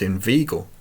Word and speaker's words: inveigle: Say inveigh, nay, but inveigle, make the latter rhyme with eagle.